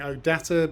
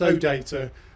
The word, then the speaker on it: OData: a musical joke about those who don't know whether to put the stress on the first syllable or the second syllable some of you will be saying oh data but of course it's oh data for the rest of